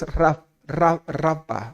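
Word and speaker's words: Rapha: Otro nombre de Dios es Rafa o Rafa. ¿Sí? Rafa, se escribe con PH en algunos casos, y significa el Señor que sana.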